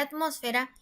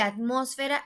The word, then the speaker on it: atmósfera: tónica aquí por ejemplo en la palabra atmósfera en la sílaba mos vemos que recae la fuerza es decir la sílaba tónica entonces decimos la última sílaba penúltima y antepenúltima sílaba entonces sí es delante penúltima sílaba quiere decir que atmósfera es una palabra esdrújula ahora en el siguiente